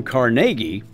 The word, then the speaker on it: Carnegie: Carnegie, who actually pronounced his name Carnegie, was a Scottish-American industrialist who spearheaded the advance of the American steel industry.